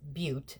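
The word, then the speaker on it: Beauté: I looked up the pronunciation, and it is Beaute, so I've been saying it incorrectly.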